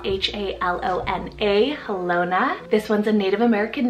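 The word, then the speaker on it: Halona: that one I also have helona spell h-a-l-o-n-a helona this one's a Native American name meaning happy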